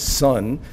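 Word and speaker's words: 선: is Chan the Korean pronunciation of that is sun and the Japanese pronunciation of that is Zen so most people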